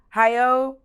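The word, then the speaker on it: Hayao: make films I want to make sure I pronounce his name right give me one second Hao Miyazaki IO Miyazaki I hope I said that right he's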